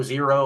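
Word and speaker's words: Xero: ones um I saw x e r o zero I guess it's just spelled with an X I haven't tried that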